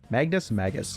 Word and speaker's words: Magus: Magus is actually how you pronounce that.